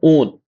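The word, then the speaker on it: -one: कीटोन इसको बोलते हैं ओन ये वैसे तो हम अंग्रेजी में वन पढ़ते हैं इसको है ना ओन क्या है इसको इसका उच्चारण होता है ओन क्या पढ़ते हैं ओन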